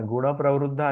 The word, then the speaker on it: गुणप्रवृद्धा: लेकिन उसका उच्चारण जब होगा, न के ऊपर ओठ बंद होंगे। गुण प्रवृद्धा गुण प्रविद्धा। अच्छा। विषय गुण प्रवाला। प्रविद्धा। हाँ, तो उसके ऊपर प्र के ऊपर, प्रेशर पड़ेगा। हाँ, गुण प्रवृद्धा, प्र का उच्चारण अच्छा से होगा।